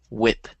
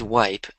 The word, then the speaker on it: whip: And then, so this is a weird word, but it's pronounced whip. Whip. Whip. Because you said wipe, which would be Yes. spelled W-I-P-E.